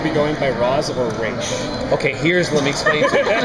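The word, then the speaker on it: Ra's: If you are outside of the League of Assassins and someone who is rogue and it's a way of disrespecting the leader, you say Roz.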